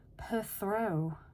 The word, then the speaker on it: Perthro: Number 14, Perthrow. And that's how you pronounce it, Perthrow.